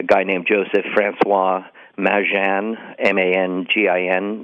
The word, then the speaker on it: Mangin: named Joseph Francois Mangin, M-A-N-G-I-N, now pronounced locally Mangin.